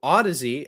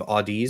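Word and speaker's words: Audeze: Uh, so Ody, as as Jesse uh rightly fixed my pronunciation, my initial pronunciation of Audi's.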